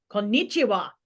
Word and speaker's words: konnichiwa: And evidently Americans be like konnichiwa, and it's konnichiwa. It's like we Yeah.